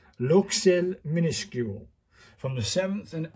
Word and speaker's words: Luxeuil: it so it's look I got pronunciation from a French pronunciation website and this is luel luel minuscule from the seventh